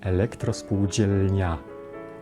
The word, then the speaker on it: elektrospółdzielnia: Nazwa zawiera charakterystyczną dla języka polskiego zbitkę liter, którą wymawiamy jako jedną głoskę – dzi.